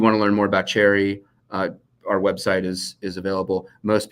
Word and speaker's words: Cherre: If you want to learn more about Cherry, our website is available. Most people, because I pronounce it cherry like the fruit, misspell it.